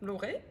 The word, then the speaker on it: Lauré: Bonjour, je suis Lauré, ou Laurette à la prononciation créole, parce que je viens de La Réunion.